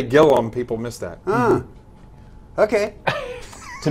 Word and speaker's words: Gillum: Jonathan Gillum is here I'm told it's Gillum and not gilam well if you spell it Gillum nobody's going to be able to find me on Google so I always say gilam oh that's smart okay